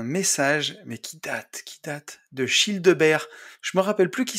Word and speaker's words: Childebert: C'est comme Gilbert, mais prononcé à la belge. Childebert.